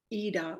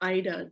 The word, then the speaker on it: Ida: film by Paweł Polakowski called Ida, or Ida, depending on how you pronounce it, which was in black and white.